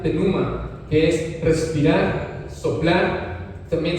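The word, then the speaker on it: πνεῦμα: Ahora vamos también a saber el significado que tiene la palabra espíritu en griego, mis amados hermanos, que se pronuncia pneuma, que es respirar, soplar.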